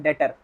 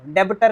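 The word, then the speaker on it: debtor: Pronunciation इसका ये नहीं होता। इसका प्रोनाउंसिएशन होता है डेटर। डेटर। डेबिटर नहीं होगा।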